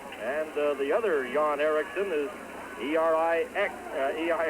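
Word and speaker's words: Eriksson: and the other John Ericsson is er I XE I are KS s om but pronounced exactly the same to John Ericsson ISM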